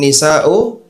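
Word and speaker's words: النساء: Innaman nisa'u, itu bacanya ni ya.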